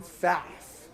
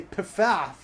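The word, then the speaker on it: Pfaff: in memory of kristin faff yes some people might say piffaf but they're idiots i say faff because it's cooler people are idiots anyways you say right kristen faff i know that there's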